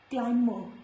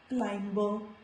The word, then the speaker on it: climber: This is climber, not climber.